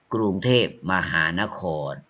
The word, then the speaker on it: กรุงเทพฯ: symbol โอเค กรุงเทพฯ You don't say this symbol don't say this you say กรุงเทพฯ อ่าน ว่า กรุงเทพ มหานคร โอเค 7 7